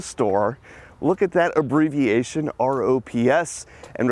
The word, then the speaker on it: ROPS: that abbreviation rops and refer to this as the ropes anybody here in the store is gonna pronounce this as rops if we're saying that abbreviation which does happen there's no e in that word it's not a rope it's a rops now most everyone would know